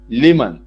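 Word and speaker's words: لمن: उसके बाद एक वर्ड है लिमन, उसका प्रोनाउंसिएशन यहां लिखा हुआ है देखिए, लिमन।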